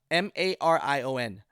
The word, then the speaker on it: Marion: saturday january 26 in tell me how it's pronounced that Marian Marin ma RI o n Marion Illinois group members say